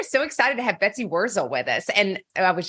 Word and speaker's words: Wurzel: Jay, we are so excited to have Betsy Wurzel with us.